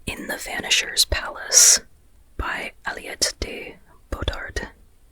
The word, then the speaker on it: Aliette de Bodard: At least I hope pronouncing that correctly. I heard I heard her name in an interview. And so that's from what I remember how to pronounce Aliot Aliot de Bard.